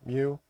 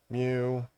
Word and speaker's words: mu: I'm not really too sure how to how to spell it, but it's kind of pronounced like the Pokémon, you know, Mewtwo, Mew. Mew.